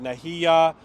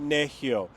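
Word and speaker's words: Nehiyaw: People would pronounce it Nahiya, which means Cree person, but it actually is pronounced Nehio.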